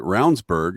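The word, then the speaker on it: Ravnsborg: who was our AG his name is actually spelled ravensborg yes but is it pronounces it rburg and he ran against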